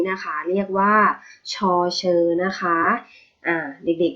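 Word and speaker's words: ฌ เฌอ: พูด ผิด นะ คะ ชอบ บอก ว่า ชอกะเชอ นะ คะ ไม่ ใช่ ชอกะเชอ นะ คะ ตัว นี้ เรียก ว่า ชอ เฌอ ค่ะ ติด อ่าน ตาม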